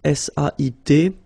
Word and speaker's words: sait: Here you write it S-A-I-T, okay, but then phonetically these three forms are the same, and it's sait, okay?